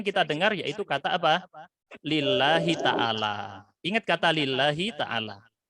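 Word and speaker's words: لِلَّهِ: Lillahi taala. Nah, dibacanya tidak lillahu atau lillaha, tetapi lillahi. Kenapa? Karena lam di sini huruf yang menyebabkan kasrah.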